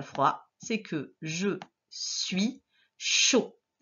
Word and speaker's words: chaud: Chaud s'écrit ch, o. Donc avec CH et le son O qui s'écrit A et U. À la fin, il y avait un D qui était déjà placé. C'est une lettre coquine qu'on n'entend pas, mais qui doit être